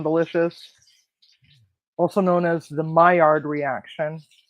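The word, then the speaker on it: Maillard: also known as the myard reaction myard is spelled m AI l l d and it's an actual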